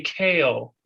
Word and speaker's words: Kale: Well, for ease, we say kale. But that Kale. left an interesting thing in my mind that I think when the family's around the dinner table, they pronounce it differently. But Okay, for professional purposes, it's kale.